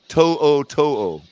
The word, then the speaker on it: To'o: So Wikipedia says it's pronounced To'o.